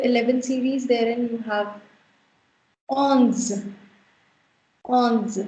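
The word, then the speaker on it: onze: Now, coming on to the 11 series, therein you have ons. Ons. You've got ON, which is a nasal sound, which we pronounce as on. So this becomes ons.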